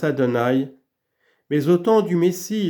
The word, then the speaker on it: Adonai: Pendant le premier, le nom s'écrit Yehovah et se prononce Adonai, mais au temps du Messie, il s'écrira et se prononcera Yehovah.